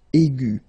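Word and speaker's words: aiguë: discover two examples and the first one is igu okay and then the feminine form will be igu so phonetically it is exactly the same thing okay but then you should put this tra here on the top of your U and then remember to put this uh at the end okay but then you don't pronounce anything because it is exactly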